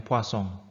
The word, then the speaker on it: Poisson: dan yang ketiga adalah distribusi Poisson atau dibacanya sebenarnya Poisson.